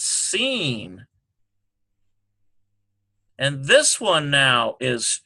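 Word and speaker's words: שׂ: This one here is Sheen sound. Transliterate like this. Or that's seen, rather. I'm sorry. We did that one wrong. That is because it's the superlinear dot is here. So it's seen.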